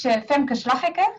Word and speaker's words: Femke Slaghek: so my name is fem kazlajek that's how you pronounce it in dutch but i think you